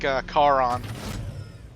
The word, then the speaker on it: Charon: Yeah, like Charon. Yeah. Or is it Charon or Charon? Or, Dude, I heard somebody pronounce that Karen the other day.